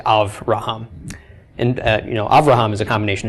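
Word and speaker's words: אברהם: Just like Avraham instead of Abraham. Okay, aside from the vowel changes, we say Avraham.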